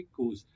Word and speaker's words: coups: कू क्या होता है, इसको COUPS को कू पढ़ते हैं, पी साइलेंट होता है, तो कू होता है